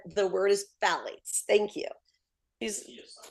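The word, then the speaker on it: phthalates: said the word is Fates thank you he the t is silent he says so that's one of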